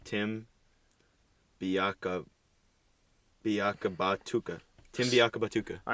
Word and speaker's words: Biakabatuka: last name pronounced Biakabatuka. Biaka Batuka. All right, here we go. Batuka. Ready? Are you ready? Biaka Batuka. Yeah, Biakabatuka.